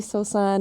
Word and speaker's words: Sosan: introduce myself to as San would be like wait is your name Susan or san is it spelled with the o or like what and